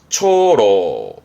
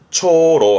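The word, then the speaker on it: 長老: 길장 짜죠 장로가 되겠습니다 장로라함은 발음은요 초로 초로 합니다 어떤 분야에 이제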